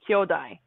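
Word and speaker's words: 兄弟: What's kyodai? I thought it was a brother, but So apparently it's that's not a very, different. you're correct. Kyodai with a long O is brothers, or actually it's siblings.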